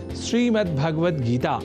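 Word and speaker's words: श्रीमद्भगवद्गीता: यह शब्द ही है जैसा कि मैंने उच्चारण किया श्रीमद् भगवत गीता जिसे अनवत वश हम श्रीमद् भगवत गीता या श्रीमद् भागवत गीता या भागवत गीता कर जाते हैं जो सर्वथा अशुद्ध है इन उच्चारण में स्वर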